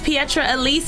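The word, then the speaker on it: Petra Elise: follow you on social media my name is Pietro Elise and you guys can follow me at pietre Elise TV is spelt like Petra so it's PE t ra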